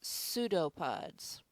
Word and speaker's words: pseudopods: The P is silent. Okay? So it is pseudopods.